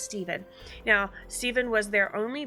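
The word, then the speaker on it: Stephan: Now, uh they they spelled his name Stefan, but he is pronounced Steven.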